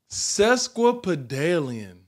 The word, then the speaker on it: sesquipedalian: I get a drum roll please what sesquipedalian it's a good one but aliens susque pedalium